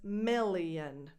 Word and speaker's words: million: The first vowel is a lax I. The second one is more of a tense E, milli. And then that O is not an O. You don't open your lips at all. It's just a schwa.